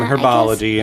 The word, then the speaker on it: herbology: potions yeah or yeah is herbology or herbology herbology it's just silent yeah it's herbology herbology